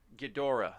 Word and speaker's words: Ghidorah: the old ones the people that's what okay ghidorah that's how you say it king ghidorah the